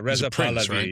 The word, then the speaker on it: Pahlavi: guy who's um I think his name is Reza Pahlavi or Palavi, I'm not sure how Yeah, he was the he was Yeah, Reza Pahlavi.